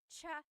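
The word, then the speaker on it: tsaa: Cha in Tagalog is T like the tea that you drink. And it's spelled T S A. Cha. Cha. That's such a Tagalog spelling. I love it. There's the ts sound and then the double vowel uh pronunciation. Cha. It's so tagalog.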